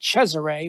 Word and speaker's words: Cesare: So it is called Clown in a Cornfield by Adam Cesare, or as he truly pronounces it, Cesare, but nobody ever gets that.